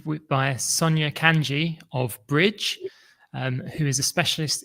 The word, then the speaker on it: BRDG: Like Joe said, my name is Sonia Kanji and I founded the firm Bridge, which is spelled BR O R DG but pronounced like a bridge and the concept is